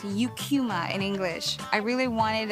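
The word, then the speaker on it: Eucheuma: And I I would hear Japs pronounce the name of the seaweed species as Ikuma. The scientific name is pronounced yukuma in English.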